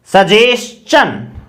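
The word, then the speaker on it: suggestion: इसी प्रकार से इसमें देखिए सजेशन, से ए, सजेशन, चन, क्या बना TION का, इस प्रकार से चे, सजेशन।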